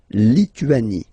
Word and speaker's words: Lituanie: Remember in French, sorry, H doesn't exist, okay, so you don't pronounce it, and it's Li-tu-a-ni, Lituanie.